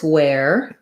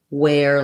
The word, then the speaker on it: where: Interestingly, this where is the same as wear, like I wear my clothes.